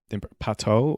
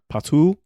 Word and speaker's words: Patou: Pateau or Patois or no, not Yeah. Patois. Patou. Patou.